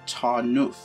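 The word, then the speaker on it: Tarnów: of tor now and i'm actually believe that it's pronounced tarnoof i'm a bit intimidated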